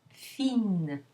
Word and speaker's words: fine: Now add an E to make that feminine, and you lose the nasal vowel, it becomes oral. So you have the E followed by the pronounced N. Fine, fine.